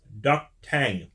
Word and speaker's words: D'k Tahg: time you have wait that's how you pronounce that duck tang these weird made-up languages there's not even an N in the word just because it's made